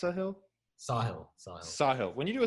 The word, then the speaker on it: Sahil: Yeah, Well, when you do like a Sahil, is it pronounced Sahil? Sahil.